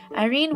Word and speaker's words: Eirene: pretty cool character and the way it's spelt is a bit different normally Irene would be stilled ir e and ii but in this case it's e ir e and yes that's the Greek way of Sonja and there's